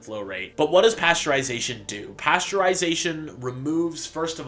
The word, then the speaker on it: pasteurization: I will point out whether this is destroyed by pasteurization. And by the way, the proper way to say it is pasteurization because it was invented by Louis Pastor, not pasteurization, but I'm going to use both interchangeably because I'm not that pedantic.